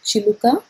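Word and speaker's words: చిలుక: two names h i l u k a chiluka or r a a m a rama chiluka h i l u k a so either you can call it as chiluka or ramachiluka pgm is known as gov so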